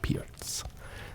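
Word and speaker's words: Pirc: pierc p i r c but it is pronounced pierce pierce defense and we see the first real real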